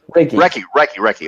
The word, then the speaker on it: Reiki: And I know that you're trained, and I'm going to mispronounce it again. Reiki? Did I say it right? Reiki.